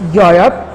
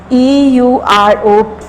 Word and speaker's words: Europe: Then the next one word is Europe, EUROPE, Europe. E again it's a vowel, but it not give the sound of alif.